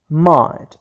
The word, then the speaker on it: might: word which is might might as we said that geh are silent letters so what is elaborate